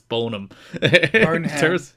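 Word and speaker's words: Boneham: It's probably Bonham, but the E is there, so I'm going to pronounce it. It's Bonham.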